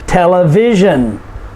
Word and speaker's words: television: shun s-i-o-n conclusion television okay so notice where the emphasis is conclusion next to the last syllable television so we say what